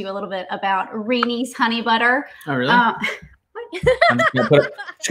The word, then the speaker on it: Reney's: I feel like it's an important thing to tell people that it's not Renee's, it's Reney's. I feel like most people probably wouldn't pronounce it correctly.